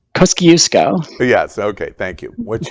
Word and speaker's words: Kosciuszko: up to the top in Australia to Mount Kosciuszko. Kuko. Did I pronounce that right? Kosciuszko.